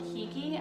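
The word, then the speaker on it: hygge: celebrate the snowy season there's a movement called hiki i'm pronouncing it incorrectly h-y-g-g-e there were many books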